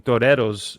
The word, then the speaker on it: Toreros: And I noticed she was wearing, I'm going to do it in the Spanish pronunciation, Toreros jersey, which is Spanish